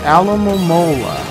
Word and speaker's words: Alomomola: But it is pronounced Alomomola.